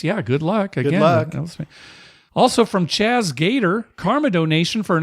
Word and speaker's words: Chaz: show sincerely Chaz Gator the second Z is silent in Chaz Oh I pronounced it wrong the first time I said it then